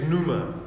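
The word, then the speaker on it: πνεῦμα: a ch and then in the greek it's numa which is a silent p uh and you knew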